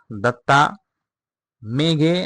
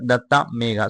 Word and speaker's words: Datta Meghe: So somewhere people pronunciate it as duta mega and somewhere duta mega. So don't be confused of it.